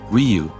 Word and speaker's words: Ryu: I had done some research and believed the Japanese pronunciation to be Ryu, like free with a silent F and U.